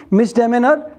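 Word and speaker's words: misdemeanor: next uh एज़ it says माइनर offence और error हां मिसडेमेनर पेटी ऑफेंस मिस डिमेनर है ना इसको ऐसा स्पेलिंग बोलेंगे इसका प्रोनाउंसिएशन ऐसे करेंगे एनीथिंग व्हिच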